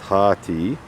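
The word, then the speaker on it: Hati: mocks so that's interesting and hatty pronounced hearty somebody maybe i'm not pronouncing wrong hearty old norse hearty one who hates so that's interesting so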